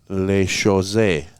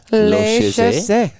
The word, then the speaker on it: La Chausse: So actually his father sent me the correct pronunciation when he was in hockey uh it is La Chausse. La Chausse all right.